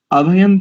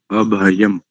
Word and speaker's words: अभयं: प्रथम जो शब्द है इसका, इसके ऊपर जो अनुस्वार है ना अभय, इसके ऊपर जो अनुस्वार है इसको माँ उच्चारण करेंगे, आप ना कर रहे हैं, माँ माँ मकड़ी, आप ना नल उच्चारण कर रहे हैं।